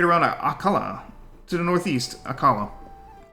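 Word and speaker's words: Akkala: aala to the Northeast aala akala is the wrong pronunciation there next a will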